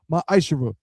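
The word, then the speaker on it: מעשר: tithes which is a commandment you can find this in numbers 18 to 21 and Malachi chapter 3 verse 8-10 means 10th in Hebrew pronounced myisher 10% of every penny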